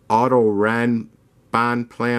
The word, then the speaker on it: Autorennbahnplaner: a company call it their carrera Otto ran bonplan or something like that that's how it's pronounced so you guys want